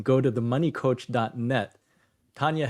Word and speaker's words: Tanja: And for folks listening, it's TANJA. The J always throws people off with Tanja.